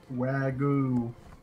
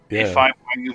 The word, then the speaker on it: wagyu: this wagyu wagoo what's that there's no type of beef it's wagyu beef uh how do you